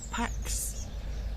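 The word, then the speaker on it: Pâques: lepak means passover and pax with an s even though you don't pronounce the s in france is easter now obviously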